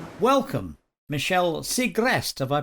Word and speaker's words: Segrest: what she's got to say welcome michelle siegrest have i pronounced that properly yeah secrets you got it